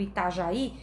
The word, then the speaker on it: Itajaí: Gente, esse já tá acentuado do Itajaí, mas foi só um errinho aqui, né? Na verdade, o acento é no I, tá?